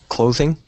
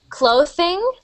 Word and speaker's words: clothing: There's th and there's the. The sound is like a vibrating sound, and the th sound is more of like a spitting sound. So I'm hearing clothing, clothing, but native English speakers make it more of that buzzing sound, so that vibrating sound.